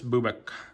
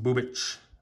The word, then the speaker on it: Bubic: Chris, I think it's pronounced Bubic. Like, I think it's like a Eastern European type sounding name.